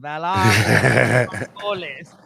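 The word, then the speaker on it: Valar Morghulis: the season finale next episode, guys, which is Valar Margolis, is I believe how you pronounce Say it it. one more time. Yeah, that's what they say in the episode. Valar Margolis.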